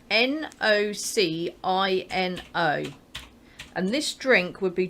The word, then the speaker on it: Nocino: Because to me it looks like Nocino. I'd say Nocino, but apparently it's Nocino. It's a C, not a chi.